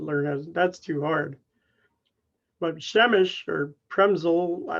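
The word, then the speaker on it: Przemyśl: y s l but you don't pronounce it primsol you pronounce it shemesh so if you want to learn how to speak polish i'm really happy with you because nobody wants to learn that's too hard but shemesh or premzel i like to say is this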